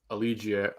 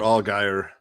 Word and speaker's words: Allgeier: Gabe Davis, Latavius Murray, Zach Moss, Marquise Brown, Dotson, Pickens, Tyler Allegier. I can never pronounce that the right way. Tyler Allgeier. Thank you.